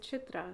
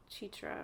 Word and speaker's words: Chitra: It'll be like the second or third time of seeing that same person, and I'll be like, actually, you pronounce it Chitra, not Chitra, or whatever they're saying.